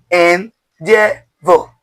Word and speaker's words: endeavour: So the first syllable is N. Second, dear. Third, vo. Let's go together. N, dear, vo.